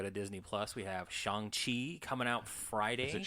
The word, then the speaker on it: Shang-Chi: So it's Shang-Chi.